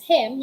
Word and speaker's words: hymn: For the second one, him, it is also pronounced as him, hindi binabasa ang N, at yung Y, pinopronounce siya as E.